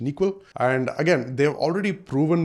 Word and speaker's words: N1QL: So they have a query language called NeQL, which is like N1QL, but it's pronounced NeQL.